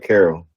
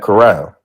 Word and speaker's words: Corral: I've been calling him Matt Carroll. Matt Corral. All right, but go ahead. I'm pretty sure it's Matt Corral.